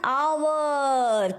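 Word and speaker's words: hour: से पहले क्या आएगा एच से पहले एन आवर क्योंकि यहां पे एच साइलेंट है और यहां पे ओ का साउंड आ रहा है सो दैट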